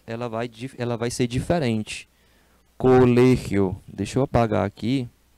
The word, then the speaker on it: colegio: Colégio. Deixa eu apagar aqui e escrever bonitinho. Co le, ó. Colégio. É o G que sai diferentão. Universidade.